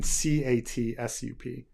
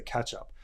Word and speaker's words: ketchup: you're supposed to say ketchup but the way we pronounce it catch up you know we can kind of hear that TCH is one sound catch catch it's not